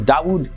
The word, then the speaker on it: Dawood: Now, after becoming Muslim, he changed his name to Dawood Kim, and Dawood is the Arabic pronunciation of the name David.